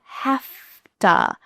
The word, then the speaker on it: have to: This is an extremely common reduction. Have and to become have to.